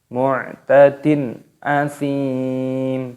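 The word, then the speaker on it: مُعْتَدٍ أَثِيمٍ: Di sini ada hukum kasroh tanwin yang bertemu dengan huruf alif, ini hukumnya dibaca idhar halqi. Jadi cara membacanya yaitu tidak boleh didengungkan, jadi harus dibaca jelas. Mu'tadin asim, tidak boleh dibaca mu'tadin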